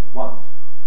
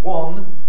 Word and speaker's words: one: that i call one now in receipt pronunciation as in american english this has the same vowel as a gun that you shoot someone with one but in the north of england it's often pronounced one with the vowel the same as my name one so the question is